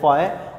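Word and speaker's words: φ: Greek language का word है, pronounce आपने इसको करना है फाई, और इलेक्ट्रिक फ्लक्स है तो इसके लिए हम यूज करते हैं फाई ई।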